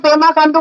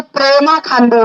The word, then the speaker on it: पेमा खांडू: पेमा खांडू जी श्रीमान, अरे हमारे मोदी जी को ना पेमा खांडू का नाम उच्चारण में थोड़ा तकलीफ होता है, वो पेमा नहीं बोलते, वो प्रेमा खांडू बोलते हैं।